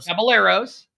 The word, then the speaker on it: Caballeros: Caballeros.